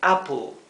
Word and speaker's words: apple: l appel sin embargo intenten eh pronunciarlo Como si no hubiera una letra e como si fuera solamente a L Sí para que suene más parecido al inglés Apple Apple si se